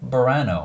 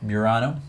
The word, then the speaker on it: Burano: honorable mention is douglas douglas Croft images colorful barano I think is how you say that pirano Burano that's that area in Italy near Venice yeah